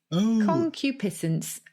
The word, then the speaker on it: concupiscence: Concupiscence. Concupiscence. I'd say it concupiscence. Oh, there you go, concupiscence. But spell it for me, Gyles.